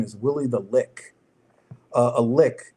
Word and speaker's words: Lich: So you you will see a character, his name is Willie the Lick. Uh a lick, L I C. Um it can also be pronounced Lich.